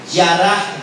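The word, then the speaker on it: ירה: Yará, viene de la raíz yará, Y-A-R-A, con acento en la A.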